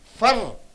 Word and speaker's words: for: Fur. You have to stress fur. So for functional words, you should not stress on the vowel. For is changed into fur.